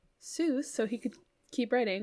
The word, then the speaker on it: Seuss: So his name, Seuss, originally, like, it's supposed to be pronounced Seuss, like rhymes with voice. But he switched it to the Seuss Seuss. to the Seuss pronunciation.